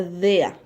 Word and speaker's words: der: r y se pronuncia de a como si en la r hubiese una a porque cuando en la